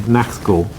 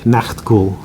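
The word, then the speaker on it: Nachtghoul: is the incredibly amazing Nachtgul. Yes, I said that right, I think. Nachtgul. I say it like a German, it sounds a bit better, but I've heard people say it in different ways.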